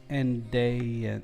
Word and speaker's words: andaian: Let me know if I'm pronouncing that right. Andaian? Andaian.